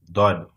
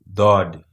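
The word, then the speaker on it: ضاد: Dod. This is the letter that we are going to introduce, for example. First, we learn the name of this letter, Dod.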